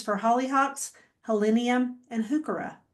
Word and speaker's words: Heuchera: holly hawks, helenium, and hooka or hookura. There's another way to pronounce it true, but I say hookah.